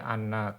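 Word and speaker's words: أَنَّ: Kalau di atas berarti dia anna, kalau di bawah bacanya inna.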